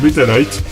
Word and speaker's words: Metalight: Alors ça s'appelle pas Metal Gear, ça s'appelle Metalite. Son Deviant. Bah ça s'écrit M-E-T-A-L-I-G-H-T.